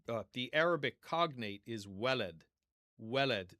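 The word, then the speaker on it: ولد: The I should mention that the um the he uh the Arabic cognate is welleled.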